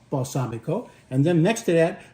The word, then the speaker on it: balsamico: regular balsamic and uh in Italian it's balsamico balsamico and then next to